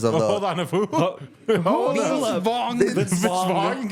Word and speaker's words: Vaughn: Vaughn. Vince Vaughn. How do you say it? Vince Vaughn. Vaughn. Yeah, like Jimmy just, Vaughn. You don't say the G. There is no G.